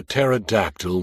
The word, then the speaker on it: pterodactyl: Walter said, "Why can't you hear a pterodactyl when he goes to the bathroom?" I groaned and was about to ask why when at the last moment it hit me. Because the P is silent.